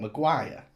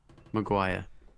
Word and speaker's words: Maguire: on and the hot uh why did you pronounce it like that by the way what McGuire what do I emphasize to you McGuire how do you say it Maguire well which was in the same word Maguire Maguire I said Maguire you said Maguire screaming